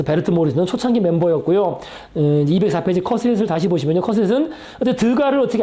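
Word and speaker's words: Cassatt: 그래서 이게 발음의 표기법이 캐서트라고 이렇게 나와 있는데 이게 안만 들어봐도 발음상 그냥 커셋으로 하는 게 맞습니다. 커셋, 메리 커셋.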